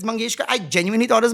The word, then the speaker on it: Mangeshkar: But the other day I just pronounced Latam Mangeshkar's name as Latam Mageshwari and people have lost it. Why? It was an honest mistake. Like why would I purposely say lat Mangeshwari if it's Mangeska?